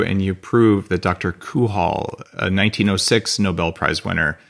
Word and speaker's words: Cajal: - Okay, but it's Ramon Y Cajal. That's pronounced Cajal.